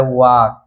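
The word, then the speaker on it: walk: इसमें भी आप देख सकते हैं के से पहले यल आया है इसलिए यल साइलेंट है, सीधा पढ़ा गया है वॉक।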